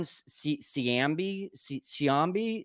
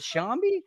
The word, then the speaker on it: Shambi: I think it's John Siambi. Oh, no. It's No. He says, "Why do you hate the RBI?" John, how do you pronounce that, Taylor? First of all, is it Shambi? Oh, my gosh. He would. So the backstory behind this is hilarious. So Okay. it's John Shambi for everybody who doesn't get the joke, and that Boog.